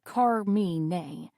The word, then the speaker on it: Carmine: "My name is Carmine." I notice he pronounces it as Carme.